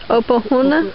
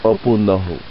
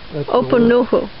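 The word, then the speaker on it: Opunohu: All right, and so the one on the left is Opahuna. Opunuhu. Opunuhu. I know I still said it wrong.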